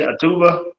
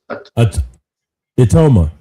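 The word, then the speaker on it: Itauma: See, that's the thing with with uh how you pronounce his name again? Atuma atma Moses automa.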